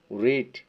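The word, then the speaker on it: read: রিড পড়া, past tense শুধু উচ্চারণ পার্থক্য হবে রেড, রেড।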